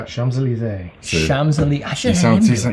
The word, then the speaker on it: Champs-Élysées: Champs-Élysées. Champs-Élysées. I should have him. He says it without reading the He pronunciation.